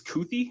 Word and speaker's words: Kuithe: I think it's Kuithe. I think that's how you say it. Keithy. It's Keithy. Keithe. Yes, Keithy. Yeah.